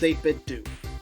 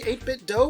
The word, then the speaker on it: 8BitDo: the 8-bit2 ultimate controller and yes it is pronounced 8-bit2 I looked that up to be sure it used to be 8-bit doe when they launched earlier but apparently that sounded